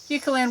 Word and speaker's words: Eucalan: I have this Eucalan. Is that how you say it? Yeah. Eucalan wash.